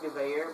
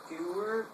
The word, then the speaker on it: Gewehr: I know it's pronounced Gewehr, but when I started out playing Call of Duty and saw it, I called it the Gewehr 43.